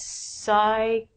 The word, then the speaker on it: psychology: These are words that we do not say the P. The first one's a really long word. It means psychology.